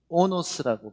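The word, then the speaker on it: ὄνος: 나귀는 오노스라고 발음합니다. 호노스 또는 오노스라고 발음하고, 나귀 새끼는 볼로스라고 말해요.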